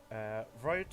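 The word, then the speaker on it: Wroat: Yeah, it's a silent W. Rote is the capital city of the nation of Breland, housing both the royal family and the royal parliament.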